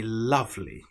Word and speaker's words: love: The word love is really with the short vowel sound a love but it has the letters o and e such as the English language.